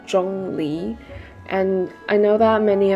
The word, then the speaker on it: Zhongli: Moving on, we have Zhongli, who's correct pronunciation is actually Zhōnglí and I know that